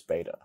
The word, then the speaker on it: beta: The next letter is beta. It is pronounced just like the English letter B, as in bet.